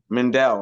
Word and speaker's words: Mandel: Arya and M and Mandel I don't want to say his name wrong mandelle right yeah okay cuz cuz pen